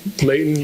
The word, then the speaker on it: Layton: of heaven as well, especially when you pronounce it without the T. Layton, mountains, and other things.